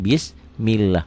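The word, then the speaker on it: بسم الله: lah kalau sebelum baris Kalau sebelum lafaz Allah barisnya di bawah lafzul jalalah ya ya lafzul keagungan ini Allah Jadi dibacanya bismillah pertanyaannya lafaz Allah ini dibaca tipis apa tebal tipis Kenapa karena penyebabnya ini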